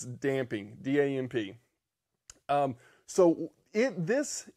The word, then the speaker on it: damping: gee finally the last strategy is damping da MP damp not dampen not dampening I catch myself saying